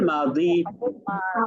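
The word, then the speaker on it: ماضي: কারণ আপনি মা দি বলবেন তখন হয়ে যাবে দাল লিয়াজের দি।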